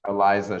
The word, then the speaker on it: Eliza: know certain comedians that are big like like Eliza that's that's how you pronounce her first name correct Eliza Schlesinger yeah yeah she's huge is she not